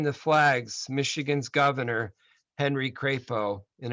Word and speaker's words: Crapo: In accepting the flags, Michigan's governor, Henry Crapo, and it is pronounced Crapo, by the way, pledged that, quote, they will not be forgotten and their histories left unwritten.